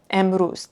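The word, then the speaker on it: امروز: So here, emruz, today. The vav is part of the syllable, ruz.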